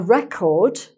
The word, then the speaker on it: record: So remember it's always the first stress syllable is the noun, second syllable stressed is the verb. Okay, so let's have a look at the example, here. So, a "RE-cord", if you keep a